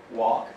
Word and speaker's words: walk: Don't pronounce the L, walk, ok?